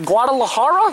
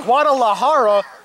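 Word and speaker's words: Guadalajara: as the native from guad how do you pronounce it guadalahara guadalahara Mexico they just pay me to read you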